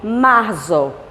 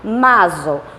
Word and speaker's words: marzo: Mas nós não devemos falar maso. Por que não? Porque o Z, que nós chamamos de zeta, ele tem um som estendido. Então você vai pronunciar como um SS. Lembrando a vocês que nós não temos SS em língua espanhola. Simplesmente o som do Z, que se faz como SS de língua portuguesa.